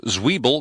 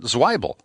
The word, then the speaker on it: Zwiebel: It's Zwiebel, not Zweibel.